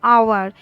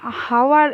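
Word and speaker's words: hour: সেগুলো যেমন কোন কোন শব্দগুলো, আওয়ার, এইচ ও ইউ আর, হাওয়ার, এটা অ্যাকচুয়ালি হাওয়ার কিন্তু আমরা উচ্চারণ করি কি আওয়ার, উচ্চারণটা হয় ও এর মতো।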